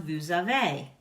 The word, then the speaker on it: vous avez: You have an EZ ending on vous avez, which makes an A sound.